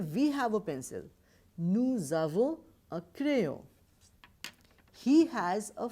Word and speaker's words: nous avons: Here you must have checked we are pronouncing nous avons rather nous avons because it has got one liaison.